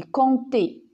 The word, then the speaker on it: compter: milieu d'un monde d'accord comme dans compte et on dit pas quand est on dit compter voyez campagnes voyez lorsqu'on lit ce mou la lettre p ne se prononcent pas il yad'autres lettre